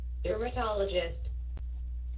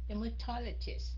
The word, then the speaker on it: dermatologist: Okay, D-E-R-M-A-T. Chứ không phải D-E-M nha. That's right, mình đọc là demur. Cô đọc là demur. Thế anh chị thấy không? Cô phát âm hiện nhiều khi nó hơi sai. Dermatologist, chứ không phải là dermatologist.